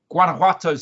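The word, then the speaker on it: Guanajuato: Anyway, let's start today with actually one of my favorites partially because I just I think I've mastered how to say the name now, but it's Guanuato Silva down in Mexico.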